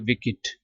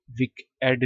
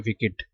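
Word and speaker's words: wicked: बदकिरदार रूप ठीक है इसको आपने पढ़ना है विकेट ये विक एड नहीं पढ़ना क्योंकि बेशक इडी की आवाज है लेकिन प्रोनाउंस करते वक्त आपने पढ़ना है विकेट ठीक है यहां पर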